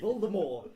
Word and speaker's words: Voldemort: The T is silent. Look how you pronounce the T. Voldemort.